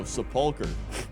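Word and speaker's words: Sepulcher: The ch is pronounced like a K. Wait, what? Oh, sepuler.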